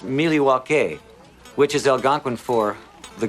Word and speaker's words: Milwaukee: Indian name the espied it is actually is pronounced Milwaukee which is Algonquin for the good land I